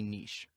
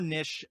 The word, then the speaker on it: niche: the why behind having a niche or niche there's i think there's a couple different ways to say it and there's some disagreement depending where you are at least in the us on the pronunciation i say niche so i'm going to